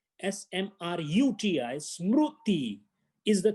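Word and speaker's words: स्मृति: It is Smruti. Smruti. The word is not Smriti. Smriti is a wrong thing. Smruti, smruti is the correct word.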